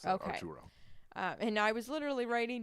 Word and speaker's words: Arturo: It's Arturo, sorry. I realized I mispronounced that. Okay. Arturo.